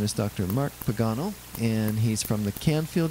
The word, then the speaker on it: Pagano: people they pay one so how do you pronounce that am I saying it wrong Pagano I am saying it right okay but the